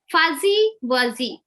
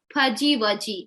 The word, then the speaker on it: fuzzy wuzzy: Most of the time, whenever this Z sound comes, they pronounce it as J. Fudgy wudgy. They say fudgy wudgy. Actually, it is not fudgy. Fudgy. Z sound doesn't make J sound. It will make a Z sound.